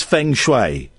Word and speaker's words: Feng Shui: So, the first things first, what exactly is Feng Shui? And am I pronouncing it properly?